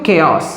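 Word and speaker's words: chaos: বিশৃঙ্খলা, কেয়স। বিশৃঙ্খলা সেন্সে কেয়স শব্দটাকে ব্যবহার করতে পারো। ওকে, উচ্চারণ ভুল করবে না, অনেকে এটা ভুল উচ্চারণ করে, উচ্চারণটা হবে কিন্তু কেয়স।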